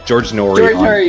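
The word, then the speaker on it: George Noory: George Norrie on you said it right.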